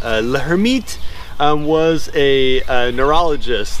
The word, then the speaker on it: Lhermitte: talk about is called Locker meet sign that's like the worst French pronunciation you could ever have let her meet was a neurologist like